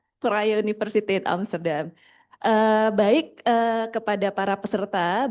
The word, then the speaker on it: Vrije Universiteit: Sedikit informasi, bacanya Vrije Universiteit Amsterdam.